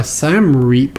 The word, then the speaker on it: Siem Reap: are going to be going up to uh Sam reap I think is how you pronounce this and the this town is like